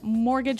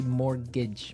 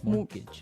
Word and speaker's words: mortgage: mean there's this strange mortgage with a t yeah it has a t in it but you don't pronounce it you say morgage morgage so not Mort Mort